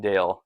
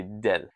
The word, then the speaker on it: Dale: Spanish speakers can't really say my name Dale. So they say D. And in Italian they don't they also don't like to say the the name Dale. So they'll say deal.